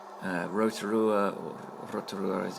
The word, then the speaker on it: Rotorua: the middle of the north iseland south of Rotorua uh Rotorua or Rotorua as it's correctly pronounced is uh the city in New Zealand